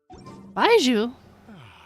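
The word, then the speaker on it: Baizhu: That dude whose name sounds like the word jury. I know that clip with Carvin's wine. Oh my gosh. Baiju, there is now no poison left in his system.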